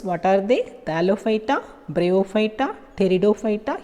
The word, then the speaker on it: Pteridophyta: Thallophyta, Bryophyta, Pteridophyta, here P is silent, Gymnosperms and Angiosperms.